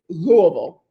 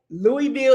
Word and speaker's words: Louisville: And then the pronunciation, it's Louisville. Or you can say Louisville if you can't get your tongue to say Louisville.